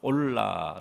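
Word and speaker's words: עולה: 한번 생각해 보겠는데 아 번제 의 히브리어 가 올라 라는 발음으로 마라 및 올라 올라 예 뜻이 뜻은 하나님께로 올라간다 라는 뜻이 s 참 공교롭게도 발음이 아주 비슷하죠 올라가 올라 기부 리어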